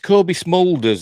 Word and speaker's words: Smulders: back on again add up bloody now right Kobe smolders is how you pronounce it uh teasers what fans can expect